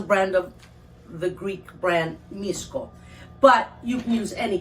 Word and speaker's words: Misko: brand in greece so brand in greece called miscos which is spelled m-i-s-k-o-s okay yeah well yeah right misco